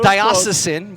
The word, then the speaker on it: diocesan: not bad there's two there's two different pronunciations it wasn't good i've gone with diocesan but either one is correct wasn't that many to